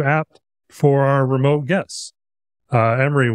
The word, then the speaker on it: Amiri: Amiri, welcome. That is how you pronounce it, right? Yeah.